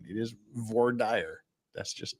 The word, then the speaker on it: voir dire: I've corrected your mistaken pronunciation. It is voir dire.